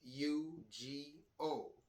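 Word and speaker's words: higo: H U G O. Ugo. Remember that H is silent in Spanish.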